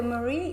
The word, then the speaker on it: Marie: And then for Armenian, we pronounce Marie as like Mari.